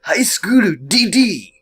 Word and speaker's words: High School DxD: If you want, you can go by the actual pronunciation of High School DxD, which is High School DD.